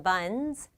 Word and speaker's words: buns: 이 s의 발음은 buns입니다. bun의 끝소리가 유성음이거든요. 유성음 뒤에 명사 복수형으로 s가 올 때는 똑같이 유성음 z 소리 내면 됩니다.